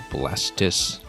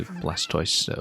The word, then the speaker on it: Blastoise: probably supposed to be Blastis, because it's a tortoise, right? And the O-I-S-E ending was just mimicking the end of the word tortoise. Similar to Tortilding here, mimicking building and rhyming with it, instead of being two-wielding or something.